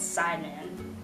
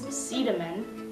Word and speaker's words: Sidemen: a taxi here - I thought it was called Simon because that's just how it's pronounced but it's Seeta men cinnamon see the month I don't know but